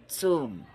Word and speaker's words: tomb: one party to another next we have tomb tum c o m b tum AAR vult or